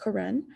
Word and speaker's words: Karen: they're karen it spells like karen but it's pronounced karen and all of their art that they made